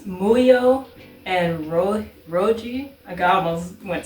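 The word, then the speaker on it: Muhyo: And I always pronounce it incorrectly. It's Muyo and Roji.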